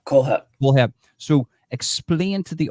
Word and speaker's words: Kohlhepp: Todd Kohlhepp. Kohlhepp.